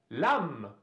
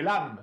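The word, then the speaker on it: l'âme: Например, «лам» – душа, а не «лам».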